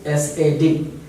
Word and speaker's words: sad: This one, S-A-D, the other word, sad, sad, said, sad. So don't be confused between these two words.